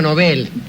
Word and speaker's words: Nobel: Y dice que por lo menos allá en Suecia es Nobel, lo que no garantiza nada.